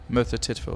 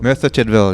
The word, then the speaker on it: Merthyr Tydfil: Do you pronounce it like that? Merthyr Tydfil. Merthyr Tydfil. Yeah. Perfect.